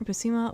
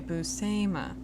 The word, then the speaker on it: Buscema: in October 2024, Buscema was inducted into the Harvey Awards Hall of Fame.